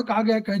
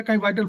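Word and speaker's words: qi: प्राण, कभी चेतना और कभी प्राण शक्ति कहा जाता है। ये सभी इसके नाम हैं, लेकिन इनकी अवधारणा में यह ची था। कई लोग इसे 'ची' लिखते हैं, लेकिन इसका उच्चारण 'की' होता है।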